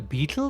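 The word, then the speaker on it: baetyl: also is it a beetle that glass buzzing thing uh it's spelled b a e T Y L I think ah okay it sounds like Beetle if you say it or yeah all right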